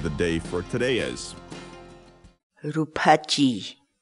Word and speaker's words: ruphachiy: series videos where we teach you how to pronounce certain words in quechua so our word of the day for today is rupachi rupachi rupachi in English the cat's wall word rupachi means